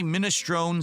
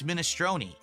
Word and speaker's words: minestrone: So I say minestron soup and they're like, "No, it's minestrone."